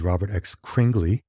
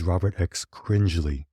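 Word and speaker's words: Robert X. Cringely: behind the film I referred to him as Robert X cringley but the correct pronunciation is Robert X cringley oh so my apologies for that one I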